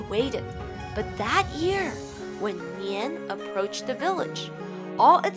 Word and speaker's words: 年: may also explain why the word year is pronounced nian in chinese and why the celebration of chinese